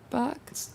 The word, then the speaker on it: Auerbach: No, you nailed it. Auerbach? Yeah, nailed it. That's it.